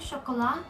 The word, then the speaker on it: Chocolat: Oh no, this is how you pronounce it, Chocolat, but it's written Chocolata.